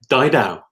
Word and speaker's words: Didau: I am excited today to have author de Dowell how do you say your last name died ow guide ow yeah author trainer lecturer speaker researcher